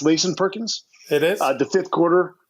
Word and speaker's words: Layson Perkins: Is it pronounced Layson Perkins?